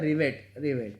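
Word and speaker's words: rivet: Ripped बोलते हैं इसको वैसे देसी लैंग्वेज में, पर ये होता है रिवेट, ठीक है।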